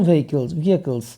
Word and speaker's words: vehicle: For small vehicles. Pronunciation is vehicle.